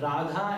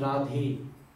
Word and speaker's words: Radha: Just like Radha and Radhe. Exact name of Kishori ji is Radha, but when we call it, it becomes Radhe.